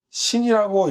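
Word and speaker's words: שין: 그래서 신은요, 신이라고 읽고, 하나는 쉰이라고 읽고, 나머지는 타오라고 읽습니다.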